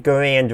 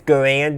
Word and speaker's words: Garand: And he says Garand, not Garand. No, he says Garand, not Garand. One is how most people pronounced it, and one is how